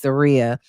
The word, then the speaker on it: Zaria: Now, I did tell you guys, I feel like Zaria, keep saying it wrong, it's Zaria, was very level headed.